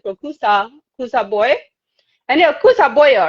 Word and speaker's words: Kusa Boyo: And yeah, Kusa Boyo, right?